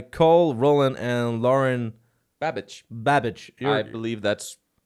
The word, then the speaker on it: Babic: one is by Cole Roland and Lauren babage babage I believe that's how you pronounce it yes I I've known I don't